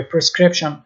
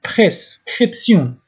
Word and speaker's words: prescription: میشه سیون سیون تلفظ میشه مثل انگلیسی شن تلفظ نمیشه یا پرسکریپشن سیون باید بگوین پرسکریپسیون لوردونانس نسخه لانفرمیه البته